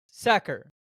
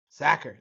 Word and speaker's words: Sachar: And we're The book is by Lewis Sacker. Sacker. That's what we said. Yeah. That's I think the correct pronunciation.